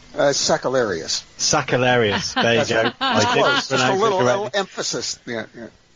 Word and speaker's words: Sakellarios: Sakellarios. There you go. I didn't pronounce just a little, it correctly.